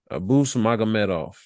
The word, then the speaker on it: Abus Magomedov: Abus Magomedov.